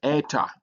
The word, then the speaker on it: eta: Uh but it has a e sound a long e like e in obey.